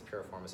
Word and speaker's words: piriformis: deeper into the traditional piriformis stretching or peripheral miss or however people want to say I think it's piriformis is the right way to say it you start off sitting